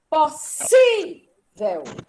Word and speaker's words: possível: Qual é a sílaba tônica, né? O si? Sim. Possível. É aquela que eu posso segurar, eu posso vender. Olha o possível. Ensinei isso para vocês. Não fazem porque não querem, né? Eles são teimosos, cabeças duras. Possível. Olha o possível. É o si.